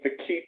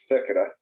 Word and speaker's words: Fekete: I was originally saying Fekete, but I'm told it's pronounced Fekete.